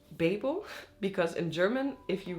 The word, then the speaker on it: Babel: you say it quickly but if you have it like this it would be a long a so in my head